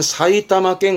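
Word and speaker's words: 埼玉県: 발음은 사이타마켄.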